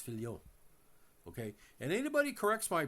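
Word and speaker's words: Fillion: And by the way, it's not Fillian. It's Fion.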